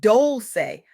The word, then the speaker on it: Dolce: Welcome to Soft Girl Era, hosted by Dolce, pronounced Dolce, like sweet softness whispered in French.